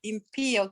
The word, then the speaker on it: impío: Pastor, pero a veces también pasa que tal vez por una palabra que uno no conoce, por ejemplo, yo digo impío, ¿qué son impío o impío?